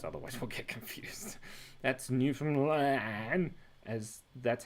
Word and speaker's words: Newfoundland: That's Newfoundland, as that's how you pronounce it.